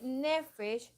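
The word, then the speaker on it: נפש: Y nefesh, se los voy a, así como se oye, se escribe.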